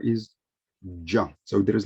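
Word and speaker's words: ج: the father becomes john john so the correct pronunciation of the sound of this letter is juan so there is like the little slides the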